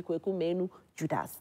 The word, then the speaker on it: Kweku Menu Judas: So for those of you who don't know how to pronounce his name, you think it is actually Kweku Menu Judas.